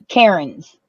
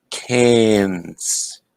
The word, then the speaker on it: Cairns: coming out with the cairns karen's no it's ir what would it be carrion's it's okay air with a c and an n cans yeah what he said